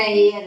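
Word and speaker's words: heir: इसी तरह एयर होता है, एयर में भी एन लगाते हैं, क्योंकि इनका फर्स्ट लेटर ये जो है साइलेंट होता है, या जो भी कुछ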